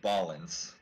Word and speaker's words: Ballance: more about the puzzles uh-huh and yes it's pronounced ball ins hey PJ B yeah noise it's not an